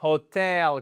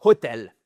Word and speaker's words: hotel: Hotel, vous entendez hotel ? Comment ça sonne ? C'est pas hotel. Non, c'est hotel. Hel motel. Accentuation sur notre seconde syllabe.